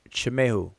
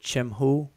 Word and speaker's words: chamehu: spells the word chamehu some people pronounce it chimho some people say chemehu and and and the pronunciation with that e in between the consonants is purely conventional that's that's just the standard of what egyptologists have done since the birth of egyptology all right it has